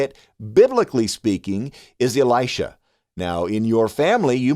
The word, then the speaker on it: Elisha: Well, the correct way to say it, biblically speaking, is Elisha.